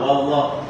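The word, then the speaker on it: والله: Wallah wa bibirnya maju narik jangan maju lagi. Bukan wau wau tapi wa langsung gantian lidahnya naik. Wallahu 1 2 3 Wallahu lagi.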